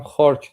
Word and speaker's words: خارک: ببین هم خارگ درسته هم خارک درسته. خارگ تلفظ قدیمیشه، خارک اسم در واقع جغرافیاییشه.